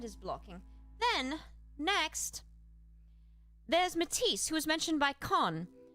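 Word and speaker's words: Metis: And this Matise is spelled M E T I S. Not Matise like the Nik Matise. Yes, Charlemagne. Sounds the same, but it's different.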